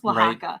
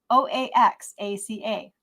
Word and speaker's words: Oaxaca: i would not know how to pronounce walraka right because it is spelled o-a-x-a-c-a oaxaca yep and it's quite a